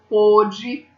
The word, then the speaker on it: pôde: Ó, pode é som aberto, pôde é som fechado.